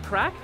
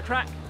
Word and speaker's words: craic: it's like gonna cry what's the what's the craic yeah what's that I look that means what darlin what's the crack crack yeah how do you spell that CRA